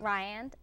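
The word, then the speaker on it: RIAND: How do you say it? RYAN. RYAN? Yes. Okay, now if I wanted to look for a dietitian, right.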